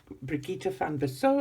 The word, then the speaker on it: Brigitte van Bissau: Brigitte van Bissau is how we would pronounce it in South Africa.